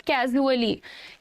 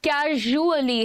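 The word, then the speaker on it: casually: Pronunciation सुनिएगा, इट इज नॉट कैजुअली, कैजुअली नहीं है ये, कैजुअली भी नहीं है, कैजुअली है. ट्रेजर, प्लेजर, कैजुअली, ज है ये, है ना, जैसे उस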